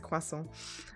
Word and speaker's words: croissant: know this is a whole thing how people pronounce the different word but yes it is French it is a quasal and sorry and jam there's got to be